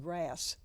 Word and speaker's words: GRAS: which is g-r-a-s and it's pronounced grass grass is like the